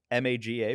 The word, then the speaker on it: Maga: M- a g- a pronounce maga.